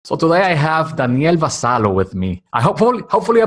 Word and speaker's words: Vassallo: So today I have Daniel Vassallo with me. Hopefully I pronounced it well because in It's Spanish it's good. Vassallo. In your country, Malta, it's Vassallo. Is that the correct pronunciation?